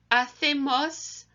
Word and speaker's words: hacemos: would say this is hacemos la lista. Hacemos la lista. And like I'd said before, with hola, the H is silent, and the CE in Spanish is a th sound.